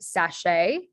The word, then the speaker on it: sachet: last one um so this is pronounced sachet and it has that a sound at the end of a word so lots of different